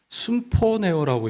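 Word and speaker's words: συμφωνέω: 이 헬라어로 이 단어를 어떻게 읽냐면 순포네오라고 읽어요.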